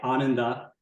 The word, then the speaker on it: Ananda: a it's a yeah on and up it means Bliss in Sanskrit but it's a this vowel sounds a little funny in English I've tried saying it